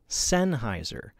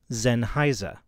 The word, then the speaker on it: Sennheiser: it sign Heiser or Sennheiser but both of those are wrong the proper German pronunciation is Zen Heiser and I can prove